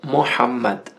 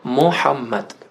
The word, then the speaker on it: Muhammad: Inclusive explicando aqui para os nossos irmãos e irmãs brasileiros, brasileiras que estão assistindo, que a pronúncia correta do nome do profeta Muhammad é Mohammad.